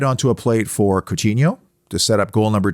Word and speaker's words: Coutinho: my final honorable mention phil coutinho or coutinho in portuguese it is cucino and i'm trapped between the pronunciations i know it drives